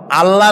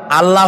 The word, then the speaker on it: আল্লাহ: বলেন তো আল্লাহ নয়। কিন্তু আল্লাহ হচ্ছে অশুদ্ধ। শুদ্ধ হচ্ছে আল্লাহ। বলার সময় মুখটা গোল হয়ে যাবে।